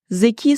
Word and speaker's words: Zeki: Zeki. Çok güzel bir sıfat, evet, ama adı bu değil. Adındaki i kısa. Yani zeki.